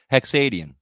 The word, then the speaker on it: Hexadian: do you say again hexadiene like canadian just drop the can for hacks like you drop the m for hex for original i like